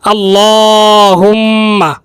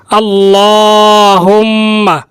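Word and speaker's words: اللهم: করে উচ্চারণ করব আল্লাহুম্মা লামের মধ্যে খাড়া জবর রয়েছে তাই এক আলিফ টান দিয়ে পড়তে হবে এখানে খাড়া জবর দেয় নাই এটা ভুল হয়েছে খাড়া জবর দিয়ে পড়তে হবে আল্লাহুম্মা আল্লাহুম্মা ইন্নি ইন গুন্না রয়েছে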